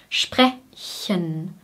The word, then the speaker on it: sprechen: Sprechen, sprechen, sprechen, sprechen. Oder wir können den Schwarlaut auch weglassen und sprechen, sprechen sagen.